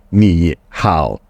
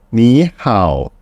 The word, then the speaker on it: 你好: So please remember if a Chinese word comes with the tone and the tone, the first the tone will become second tone, which is 你好.